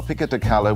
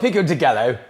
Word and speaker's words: pico de gallo: When you see a double L in Spanish, you don't pronounce it like 2 L's.